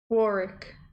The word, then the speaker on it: Warrick: Oh, Warick. It's pronounced like jar, not war. Warrick.